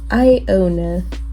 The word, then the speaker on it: Iona: Iona. I know it sounds like Iona, like I own a car.